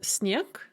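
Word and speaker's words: снег: pronunciation of dorst and snake we have word final devoicing so the g in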